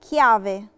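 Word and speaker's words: chiave: كيافي، كيافي نطقنا التشي هنا تشي دورة، علشان جه وراها حرف الأكا، فتنطقت شيدورا. كيافي يعني مفتاح.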